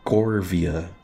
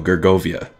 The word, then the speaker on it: Gergovia: open thing all right cargo or korvia Gert no gergovia that's how you pronounce it let's check fist you